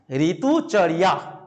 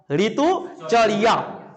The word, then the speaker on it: ঋতুচর্যা: উচ্চারণ উচ্চ উচ্চই ঋতুচর্যা ঋতুচরিয়া ঋতুচরিয়া তোমরা যদি উচ্চারণ করো তাহলে হচ্ছে কি হবে বলতো যখন এটা বাংলায় উচ্চারণ করবে তখন ঋতুচর্যা কিন্তু সংস্কৃত উচ্চারণ করলে ঋতুচরিয়া ইয়া উচ্চারণ করতে হবে ঋতুচরিয়া এবারে এই যে ঋতুচরিয়া